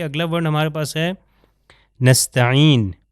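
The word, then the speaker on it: نستعين: ہمارے پاس ہے نستعین۔ جی نستعین جو ہے عین سے ہے، اس کا مطلب ہے عون سے آتا ہے، یعنی مدد، صرف تیری ہی مدد چاہتے ہیں، نستعین۔ مگر اگر میں حمزہ سے تلفظ کر دوں، آپ یہ دیکھ سکتے ہیں کہ یہاں پر یہ حرف عین ہے، یہ والا، ٹھیک ہے،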